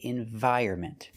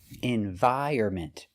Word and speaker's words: environment: don't say either one the N is silent so for this word we cannot trust the dictionaries we say environment environment the stress is on